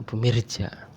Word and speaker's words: Bumirejo: Ngapak ya bahasa Ngapak Tapi anehnya tulisannya secara resmi secara formal itu Bumirejo pakai o Tapi bacanya orang ya bumireja ar I Kang Ar bumireja Aring I Aring bumireja gitu Ini jalan desa tadi